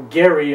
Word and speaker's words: Gerry: a report to Elbridge Gerry the second or Gary as I'm told the pronunciation is his ancestor had invented